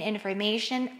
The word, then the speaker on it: information: In information, the third one.